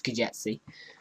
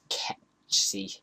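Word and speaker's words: Ketsji: Now kx_ stands for Kejtsi, or Kejtsi, I can't remember how you pronounce it, it's Kejtsi, and that's the code name for the Blender game engine functions.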